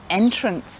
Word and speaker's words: entrance: gardens here in cairns see this word entrance starts and finishes with the letter e but the sound is not the same at the beginning and the end so entrance so the e